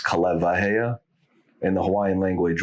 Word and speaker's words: Kaleiwahea: It's Kaleiwahea. In the Hawaiian language, when there's a W and then there's vowels on each side of it, it's pronounced as a V.